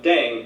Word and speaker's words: 땡: The pronunciation of Ddaeng is similar to thang, which is the slang of thing in English.